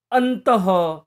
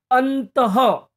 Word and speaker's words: अंततः: बताना चाहता हूं कि विसर्ग का उच्चारण करते समय हम हक का उच्चारण करते हैं मगर उन शब्दों का